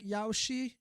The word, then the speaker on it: Yaoshi: But yeah, this is Ouroboros, and like to the left here, I assume is this like Yaoshi or Yausha? Yausha is the right pronunciation, right?